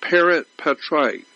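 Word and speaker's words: parens patriae: I don't know exactly how to spell it, but it's pronounced parent patriae.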